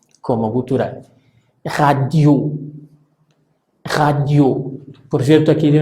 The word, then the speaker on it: radio: se pronuncien o no, la sílaba tónica es la que voy a pronunciar al final, por lo tanto decimos radio, radio.